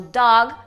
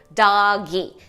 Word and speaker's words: dog: Então, uma palavra como dog, por exemplo, cachorro, a gente acaba falando doggy. Então, dog tem uma sílaba, a gente coloca o izinho ali no final e transforma essa palavra em uma palavra com 2 sílabas.